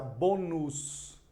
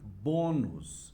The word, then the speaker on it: bônus: Por exemplo, se eu tenho aqui, ó, esta palavra como está escrita, eu vou ter que pronunciar bonus, mas é para ser bônus.